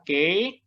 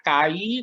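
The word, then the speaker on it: καί: Seperti biasa pembacaannya berarti yang dari atas ini adalah ke ho logos. Ke ho logos. Penerjemahannya kai tapi pembacaannya Kak Yona ingatkan lagi pembacaannya adalah ke.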